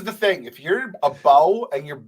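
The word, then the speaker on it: Beau: don't know I said the guy's name was B and it's spelled b e a u that's this is the thing if you're a bow and your name is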